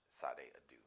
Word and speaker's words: Sade Adu: it's a Nigerian name fade Adu Helen F Sade Adu but it's spelled f o l a SS a d